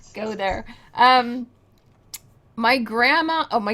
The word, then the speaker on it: Ye: actually pronounced y uh the Y used to be a th sound so that was that's